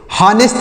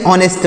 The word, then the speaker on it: honest: HONEST, तो यहाँ पर एच साइलेंट है, हम इसे हॉनेस्ट नहीं ऑनेस्ट पढ़ेंगे। क्या पढ़ेंगे, ऑनेस्ट। ऑनेस्ट पढ़ना है, हा नहीं पढ़ना है, आ पढ़ना है, तो ऐसे पढ़ना ऑनेस्ट।